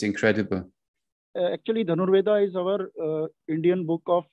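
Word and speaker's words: धनुर्वेद: And when you see the history in India, with Dhanurveda, how do you pronounce it properly? The Art of Archery. There's this book, Dhanurveda. It is Dhanurveda.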